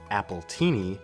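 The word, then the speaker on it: Appletini: Applejack's nickname in this episode, Apple Tini, is pronounced the same as the alcoholic drink Appleini, paralleling how Applejack is the name of an alcoholic drink.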